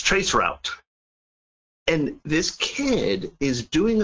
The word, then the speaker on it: traceroute: how to use, and I'm going to pronounce it the way he pronounced it, Tracer T, which many people on this webcast probably caught that. It's traceroute.